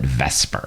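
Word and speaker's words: VSEPR: chemist to use so let's just call it Vesper all right and Vesper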